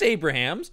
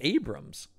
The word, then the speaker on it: Abrahams: drink whatever maybe it's it's spelled Abrahams but I think you're right that it's pronounced Abrams yeah oh that's weird